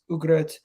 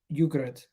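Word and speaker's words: Ugarte: this moment in time it's ugrat not yogurt how do you pronounce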